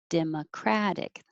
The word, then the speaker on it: democratic: And that's different than 21, which is democratic, democratic. Any word that ends in IC as the adjective form of that word, the syllable before the ick will be stressed, democratic.